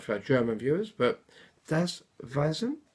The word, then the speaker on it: Das Weisen: I don't know if I'm pronouncing that right for our German viewers, but Das Weisen. I remember from my school days, the W is pronounced like a V, I believe.